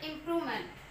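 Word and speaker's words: improvement: इम्प्रूव प्रूव, हमें इस पे स्ट्रेस लगाना पड़ रहा है, देखो प्रूव, इम पे स्ट्रेस नहीं आ रहा, प्रूव पे आ रहा है, इम्प्रूव पी आर ओ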